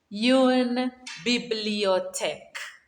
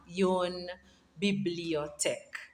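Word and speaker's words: une bibliothèque: same name as the library a book kiss yoon bibliotech aha yon bibliotech and the last one is a desk how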